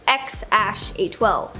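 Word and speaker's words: X Æ A-12: Okay, so we all know their first kid's name is X something, or apparently it's pronounced X-A12.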